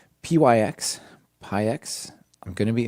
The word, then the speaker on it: pyx: I'm going to say pyx for now like ty and uv and so on.